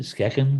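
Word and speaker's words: Skagen: simple pure design like skagging watches so you pronounce it skeken skeken did that company sure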